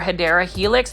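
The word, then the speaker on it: Hedera helix: And you can see this one is an actual Hedra helix or the correct way to say it is English ivy or hideera helix.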